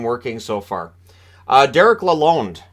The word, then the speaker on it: Lalonde: so far uh Derek aloneed now I've heard Lalonde I said Lalonde but it is Lalonde uh that's how he wants it pronounced uh which is of